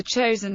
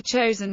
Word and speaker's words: Chosin: in the Korean War chosen is the Japanese pronunciation of the Korean name of Chang Jin the UN forces relied